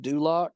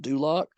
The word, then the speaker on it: Dulcich: out, and that's Greg Dulak, or Dulcich is what it looks like, but it's pronounced Dulak.